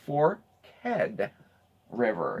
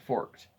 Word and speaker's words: Forked River: place is the pronunciation it is two syllables it is for head river that's not a forked it's spelled forked but they say that commonly new residents and outsiders call it forked once Deven okay so